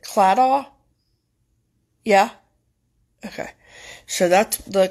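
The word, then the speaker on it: Claddagh: And I think you pronounce it Cladaw.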